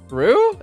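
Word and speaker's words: roux: It's French, so it's definitely not pronounced rocks.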